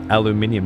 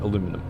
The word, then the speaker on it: aluminium: Aluminium. Yeah, but in in America they don't spell it aluminium. They spell it aluminum and pronounce it aluminum.